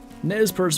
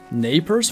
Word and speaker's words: Nez Perce: The Z is silent, and it sounds like pate? Nez Perce Valley? I swear the grandpa narrator guys pronounce it as Nez.